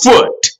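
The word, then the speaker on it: Phut: Okay, he's also the father of Canaan, who we are discussing right now, and one that they call Foot, P-H-U-T. Sometimes they spell it P-U-T, which could be either Libya.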